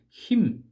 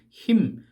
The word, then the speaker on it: hymn: 자 찬송 헬라어로는 힙노스구요 영어로는 힘 이렇게 hymn 힘 요렇게 발음이 되지요 어떤 대상을 높이는 노래를